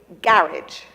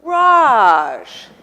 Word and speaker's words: garage: This one here, in England, that is a garage. And now we have garage.